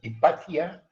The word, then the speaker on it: Hypatia: tentar esclarecer isso aqui o nome é hypatia de Alexandria hipátia era a pronúncia e é como se